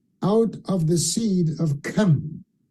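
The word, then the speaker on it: Ham: of the seed of come notice I said come not him because King James did not pronounce the name correctly because in Hebrew it's like from the back of the throat come okay according to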